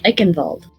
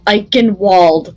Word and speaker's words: Eichenwald: of the one of the maps is uh german and it's uh eichenwald but people go eichenwald and i'm like no you're dumb have you never seen german in your life well